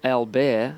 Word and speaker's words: Albert: the name Fanny J Albert or albear as the locals pronounce it is a beautiful